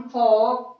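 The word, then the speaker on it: folk: Half, chalk, कॉफ, almond, balm, फॉक, बक, सब में एल को हम साइलेंट रखेंगे.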